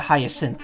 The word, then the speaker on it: hyacinth: The C is pronounced like an S. Oh yeah, hyacinth, okay.